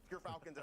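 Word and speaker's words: Gyrfalcons: We actually, off screen, we're figuring out how it's pronounced. But Gerfalcons, everyone, so anyone who mispronounces it, that's how you say it.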